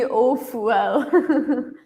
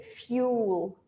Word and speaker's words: fuel: says we pronounced B Fuel biofuel yeah in English we say fuel fuel fuel it's like there is a y here right we can almost